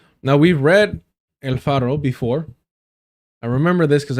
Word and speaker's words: El Faro: Now, we've read El Faro before. I remember this because I pronounced the R too hard. Apparently, Salvadorian news outlet El Faro says its assets frozen in retaliation for reporting on Boule.